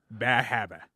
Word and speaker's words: Bar Harbor: Bahabba is how you say Is it.